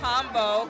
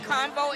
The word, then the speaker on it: Conveaux: So I am the founder and owner of Combo. Combo is spelled Conveaux. So it has like a French ending. And what Convo is a platform that curates conversations about healthy relationship building.